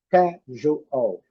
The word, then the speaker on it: casual: Casual. Casual. Casual. Primeira sílaba forte.